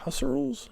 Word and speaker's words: Husserl: Husserl's? I don't know how to say his name. I think it's Husserl. All right.